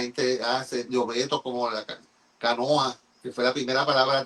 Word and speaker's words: canoa: embarcación allí en Europa ellos le llaman Canoa con la última sílaba lengua luenga larga esa Canoa y entonces